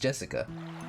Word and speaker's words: Jessica: really old but they're spoiled anyway that is pronounced Jessica she's dad's older brother's daughter that older brother